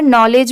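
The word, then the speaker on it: knowledge: जैसे यहां पर नॉलेज में एन से स्टार्ट है। नॉलेज पढ़ेंगे। बट लिखते टाइम अगर आप स्टार्टिंग में के नहीं लगाएंगे तो आपकी स्पेलिंग रॉन्ग होगी।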